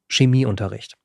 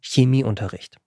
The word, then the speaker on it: Chemieunterricht: ist kein es vorne viele sprechen es aber einfacherweise immer so aus Chemieunterricht ist falsch das heißt Chemieunterricht und das ist ein wirklich wirklich wichtiger Unterschied und das muss auch so korrekt ausgesprochen werden egal wo es ist